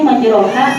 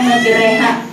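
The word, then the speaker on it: مجريها: Contoh yang misalnya terdapat itu misalnya di Al-Quran itu yang bacaannya miring, tulisannya majroha, dibacanya majreha.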